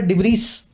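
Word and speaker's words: debris: पीछे का एस इस वर्ड में प्रोनाउंस नहीं किया जाता, लिखा हुआ है डिब्रीस, बोला जाता है डिब्री।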